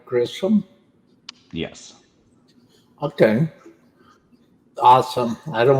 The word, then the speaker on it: Grissom: us awesome awesome so am i am i pronouncing your last name right grissom yes okay awesome i don't want to get